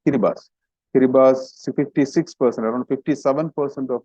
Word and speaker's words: Kiribati: Kiribati, one country, it is pronounced as Kiribati, although it is written Kiribati, but it's Kiribati.